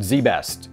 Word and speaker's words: ZZZZ Best: Pronounced Z Best, apparently.